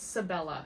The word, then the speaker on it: Sibella: I'm sorry, it's Sibella is how you say it.